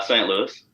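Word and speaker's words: St. Louis: louis how do you say st louis uh saint louis so you can say yes yes kansas and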